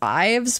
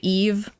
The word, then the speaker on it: Yves: reading her name as is that Yves or I used to read it as IES but it's actually Eve that's how you're supposed to pronounce the name I think part of